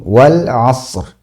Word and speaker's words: wal asr: Nah, ini ada huruf ro ee disukunkan ya waqaf kemudian didahului oleh huruf shad yang juga waqaf. Nah, ini kadang orang kagok ya. Jadi kadang terbacanya wal as rnya tidak terdengar atau terdengar terlalu jelas.